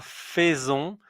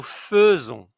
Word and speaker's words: faisons: Elle fait nous attention à la prononciation, c'est pas faison. Mais nous faisons donc ça, il faut le retenir aussi.